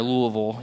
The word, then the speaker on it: Louisville: from Columbus to Louisville that's how you say it if you've lived there Louisville you have to say like that it if you've if